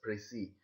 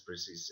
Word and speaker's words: précis: We have to pronounce it as Precis, but many people pronounce it as Precis.